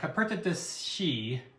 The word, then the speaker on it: Coperta: But the drink is called the Coperta is how it's pronounced, which is translated to ski lodge blanket.